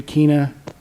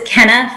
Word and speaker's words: Kenna: I believe it was, I don't know if this is the correct pronunciation, Keena? Close. It's Kenna, but thank you.